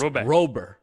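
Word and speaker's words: Robert: I was giddy about Luis Roberia. So that was a personal or no not Rober. It's it's robber. Robber. Robber. Luis Robber. Cuz in Cuba they don't pronounce the T's.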